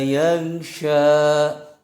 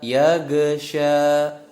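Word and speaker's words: يغشى: yang harus benar-benar diperhatikan cara pelafalan lafad yesha yang Syah seringkali terdengar Oh iya geser yakhsha yakhsha Nah itu huruf gold bukan huruf Qalqalah jadi tidak memantul tapi kenyataannya masih banyak yang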